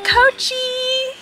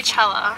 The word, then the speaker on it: Coachella: But now we're going to Coachy. Don't say it like that. Just say Coachella.